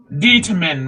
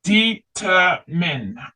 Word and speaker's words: determine: Yeah, determine, right? Determine. Only min. E sound is silent, right?